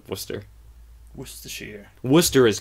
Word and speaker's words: Worcester: ] hammer Haverhill cuz in Massachusetts you don't have to pronounce out letters no just start saying like is ah was to be it's an Irish thing you just slur Worcester the slur becomes the actual name yeah because no one